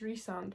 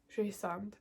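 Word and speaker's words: Rhysand: this book and resand how do you say his name is it because it's re-sand but I always read as she sound because I'm Welsh like a Trace but I know it's resand but I think it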